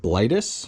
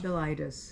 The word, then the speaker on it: Bilitis: The song of Blightus. Bilitis.